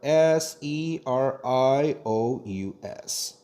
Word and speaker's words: serious: 가져와 그래서가 돼야 되죠 근데 이거 발음 하실 때 알벳 C 하고 똑같이 발음 하셔야 되지 우리나라 발음처럼 she 이러면 안 돼요 예시 발음이 정말 없어